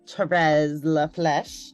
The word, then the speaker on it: Therese Lafleche: to our belonging conversation Miss Therese La flesh did I say it wrong no you said it perfectly hi okay well I've